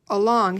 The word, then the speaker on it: along: would look like this along has two syllables the a at the beginning actually makes this short u sound doesn't it a long